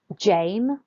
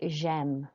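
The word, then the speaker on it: j'aime: again gem I like so it's not Jane Oh Jane it's gem okay one more time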